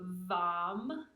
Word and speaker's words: Vam: The second one, the sacral chakra syllable, is going to be Vam, V-A-M.